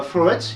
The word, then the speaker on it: floret: Et d'ailleurs, si on regarde bien, floret, il est accentué en première syllabe et pas en dernière. Pourquoi? Tout simplement parce que floret s'écrit ET à la fin et pas E de TE.